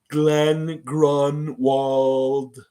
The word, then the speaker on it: Glenn Grunwald: No, it wasn't Glenn Grenwald. He didn't even draft him. He was way before Bosch came. He was in the Vince Carter era. More Glenn Grunwald. Glenn Grunwald. Nice pronunciation.